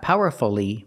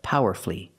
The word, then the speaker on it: powerfully: expressed her opinions powerfully not powerfully but power flee flee flee power flee three syllables she expressed her opinions